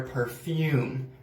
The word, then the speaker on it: perfume: for women women wear perfume men wear cologne also pronunciation perfume perfume not perfume but perfume so aftershave is what